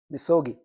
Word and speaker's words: misogi: Misogi. We have a couple of Japanese here. Perhaps that's not the right pronunciation, but I don't know. I just say misogi. It is. Okay. We got a Japanese approval right there.